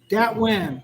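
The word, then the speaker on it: Dat Nguyen: Yeah, it's Datnguyen. Datnguyen. Yeah. Like wind, yeah.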